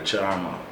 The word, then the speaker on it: Chalmar: me the name still Charmer. And my parents, they gave me the name. They spell it Chalmar. Okay. Right? The L is silent.